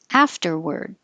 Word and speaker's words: afterward: Afterward. Looks like an A, but we say ER.